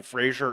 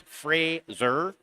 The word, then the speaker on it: Fraser: Apparently I was pronouncing Frazier incorrectly. It's Frazier.